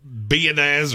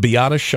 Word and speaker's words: Biadasz: I just would, and look, Tyler Biadasz, or however you say his name, Mhm. I've always said it wrong, but I love the kid. Biadasz, I think is how they say it.